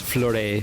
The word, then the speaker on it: Fleuret: I guess it's Fleuret Fury. Because the T is silent en français.